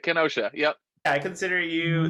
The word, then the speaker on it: Kenosha: Am I saying that right? I hear people. How do you say it? How do you say Yeah, Kenosha? yeah, that's it. Kenosha.